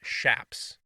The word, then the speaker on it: chaps: think my and he they're pronounced shaps so he says i